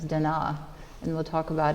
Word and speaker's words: Da Na: and Donna it states actually the most correct pronunciation as Dena and we will talk